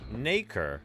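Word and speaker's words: nacre: real quick yeah there you go apparently it's pronounced naker okay also known as mother of pearl is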